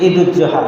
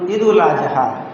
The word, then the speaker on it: ঈদুল আজহা: যাই হোক, পত্রিকায় ক্যালেন্ডারে যদিও লেখে যে ঈদুল জোহা, কিন্তু এই কথাটা ভুল। এটা ভুলটাই মানুষ ধরে রেখেছে। আসল হবে ঈদুল আজহা, এবং এই আজহা শব্দের উচ্চারণ বানানটাও হবে উত্তস্ত জ দিয়ে, বর্গীয় জ দিয়ে নয়।